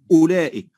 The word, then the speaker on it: أولئك: معنى الصفر المستدير أن الحرف الذي رسم عليه الصفر المستدير لا ينطق لا وصلا ولا وقفا، تمام، وكأنه غير موجود، فنقول أولئك ولا ننطق بالواو فلا نقول أولئك.